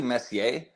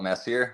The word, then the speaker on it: Messier: It's actually Messier, but everyone seems to call it Messier, which is fine because